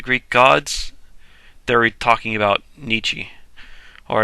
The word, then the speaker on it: Nietzsche: Or if you want to be really pretentious, you can pronounce it Nietzsche. But don't. I don't know. It's probably the proper way to pronounce it. But Americans will pronounce it Nietzsche. And I'm okay with that. Nietzsche. I'm fine with that.